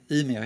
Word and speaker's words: Umeå: How do you pronounce it? Oh, right, yeah, Umeå, yeah.